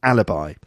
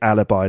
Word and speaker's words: alibi: my husband it's an alibi and in English yet we pronounce it alibi not alibi in French it's leb but alibi in English okay we can hear